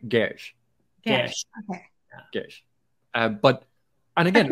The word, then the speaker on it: Geass: I think the S is it's pronounced like an SH. So it's more like Gesh.